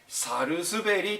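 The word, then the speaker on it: 百日紅: được điều này, nhưng thực ra nó được gọi là ``Sarusuberi.''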